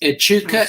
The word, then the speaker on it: Echuca: The word is Echuca. It's spelled E-C-H-U-C-A, Echuca.